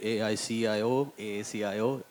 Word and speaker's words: AACIO: for her programs, be it API, be it AACIO. Did I pronounce it that right?